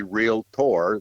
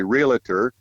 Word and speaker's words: realtor: Well, RVWheelator, the word wheelator is a play on the mispronunciation of the word realtor. There is no A in the word realtor, but seldom or not very often does anyone say realtor. They say realtor.